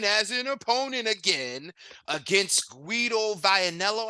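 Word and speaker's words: Guido Vianello: an opponent again against squido vianello I believe is how you say his name a top-ranked Prospect you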